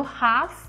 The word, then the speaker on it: half: do som né então a gente puxa ele no Walk e no talk e no Half ele desaparece Então são essas diferenças